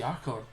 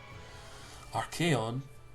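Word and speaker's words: Archaon: don't get to see our code RK org I always call our code because that's what code what I was growing up before I actually found out how to pronounce his name RK on we go see him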